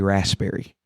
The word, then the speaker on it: raspberry: She can't stand when I say raspberry because supposedly the P is silent.